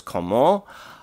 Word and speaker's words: comment: would come out as comment. Remember, we're extending the nasal when it doesn't come before a plosive, and the T is silent here, so we're just going to elongate the O, so it's comment.